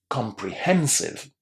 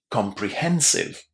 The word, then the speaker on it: comprehensive: Comprehensive. Comprehensive. Can you hear how much stress there is on that syllable that starts with that H?